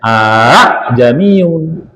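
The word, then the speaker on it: أَعْجَمِيٌّ: qurananami laqusilat ayat aamu ini sering juga banyak orang salah a jamiu padahal bacanya a jami gitu ya ada alif ada ini ada mati jadi alif hamzah wasal mati ah itu sering orang baca a jamiu padahal bacanya a jamiun itu baca Qurannya gitu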